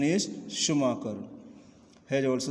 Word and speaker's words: Schumacher: Pronunciation is Schumacher.